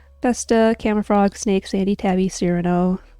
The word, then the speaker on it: Cyrano: So, Vesta, Camafrog, Snake, Sandy, Tabby, Cyrano, who I called Kyrano at the time, Amelia, Marcy, that's the